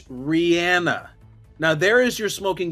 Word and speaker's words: Rihanna: I've just followed this there is a video from about nine years ago where Rihanna is asked how do you say your name and she explains it and says it's Rihanna now there is your